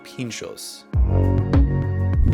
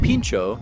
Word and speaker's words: pintxo: skewer generally a toothpick and pincho spelled phonetically to English speakers is actually spelled pincho in this area which is Basque Country an area of Spain and France with its own language and this is a